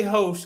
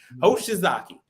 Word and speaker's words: Hoshizaki: Don't say Hosh, because it's like a derogatory term. Hoshizaki. So Hoshizaki, like I said, Manitowoc is going to be in your McDonald's.